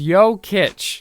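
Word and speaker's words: Jokić: Joker hailing from Serbia jokic's last name is pronounced as yoit causing a bit of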